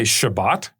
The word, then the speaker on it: Shabbat: One of the Hebrew letters, Tav, it makes kind of what I would say the T sound in the Ashkenazi version of it. In Sephardic versions is pronounced more like an S. So you might hear some Jews say Shabbat. Shabbat is the Sabbath. But you'll hear other Jews say Shabbos.